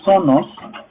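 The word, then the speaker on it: φθόνος: O sea, así se escribe, F de sonos, ¿sí? Se dice sonos, y significa tener mala voluntad.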